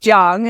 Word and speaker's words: Chiang: so I'm so happy that we have Dr Chang here before I continue was there anything else you'd like to share about your so my last name is actually pronounced Jang I know so singer thank you so much